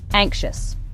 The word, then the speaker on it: anxious: Anxious.